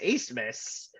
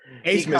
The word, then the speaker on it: Asmus: It's Max Asmus. Asmus. I pronounced his name the last time we talked about it.